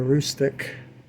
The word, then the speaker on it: Aroostook: Here's a Mahano Bangor and a Aroostook. That's how you pronounce that. Aroostook Railroad.